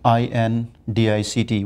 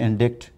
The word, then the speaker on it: indict: mistakes yes people commit mistakes like we're talking pronunciation for example look at the word uh i n d i c t we discussed long ago I and d i c t many people say indict and indictment where the word is indict so